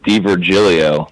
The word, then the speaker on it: Di Virgilio: oh hey no worries the tough Italian last name and it's it's D Virgilio so there's a lot